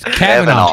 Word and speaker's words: Kavanaugh: You made me mispronounce it when you said Kavanaugh or whatever you said. Yeah. I'm like, What? Kavanaugh? Well, Is that not how you say it? It's Kavanaugh. Kavanaugh.